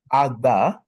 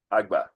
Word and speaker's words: Agba: GBA I'm gonna type it how do you pronounce it agba agba great we don't necessarily have a logo but